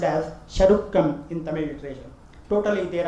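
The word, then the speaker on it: சருக்கம்: The same is pronounced as Charukam in Tamil literature.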